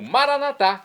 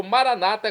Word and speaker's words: Maranata: e agora eu clamo maranat como dizemos nós católicos ou Maranata como dizem nossos irmãos separados os ou protestantes não importa pronúncia o significado é o mesmo vinde Senhor Jesus um